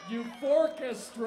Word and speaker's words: Eufórquestra: It's pronounced Youth Orchestra.